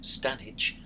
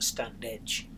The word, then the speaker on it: Standedge: been through the Stannis tumblr and yes it's pronounced stanitch and not a stand edge you might think like me that the tunnel